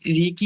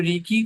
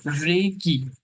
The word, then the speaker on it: Reiki: তো আমরা ফার্স্টে জেনে নিই যে রেকি বিষয়টা কি। তো ইন্ট্রোডাকশন পার্টটাকে সেইভাবে আমি এটাকে বলছি। তো রেকি অর্থাৎ এর উচ্চারণটা কি? রে কি, নট রেকি। উচ্চারণটা হচ্ছে রে কি।